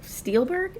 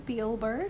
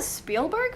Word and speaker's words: Spielberg: strangling the actor and the director Steven Spiel Steelberg. Is that how you say his name? Spielberg.